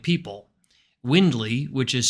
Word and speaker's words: Wyndly: welcome Akash Shah one of the co-founders of windley health located here in New York to talk